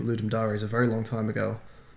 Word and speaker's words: Ludum Dare: I think I've heard people pronounce it Dari. I pronounce it Ludum Dare, and I think I have looked it up before. And I think it is Ludum Dare.